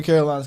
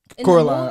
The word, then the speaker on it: Coraline: What was the What was the first name for Caroline's cat? Coraline. I said Caroline in the movie.